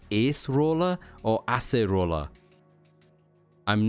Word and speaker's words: Acerola: Dictionary says acerola is acerola. Gotcha. Thank you, Clawful. So it's not ace, it is acerola, which is similar to the Japanese pronunciation.